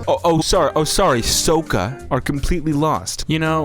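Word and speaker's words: Sokka: sorry ong and katara or between ong and saka oh oh sorry oh sorry soka are completely lost you know when it's this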